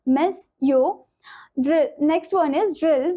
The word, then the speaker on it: monsieur: or Sir, pronounced monsieur.